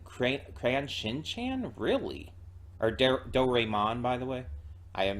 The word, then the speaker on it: Doraemon: it's Shin a animation it's the studio behind Dory man and crayon Shin Chan really are Doraemon by the way I am mispronounced that Doraemon and cran Shin-chan like that's